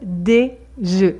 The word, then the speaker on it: œufs: Attention, le mot œuf, quand il est au pluriel, change de prononciation et on dit un œuf, des œufs.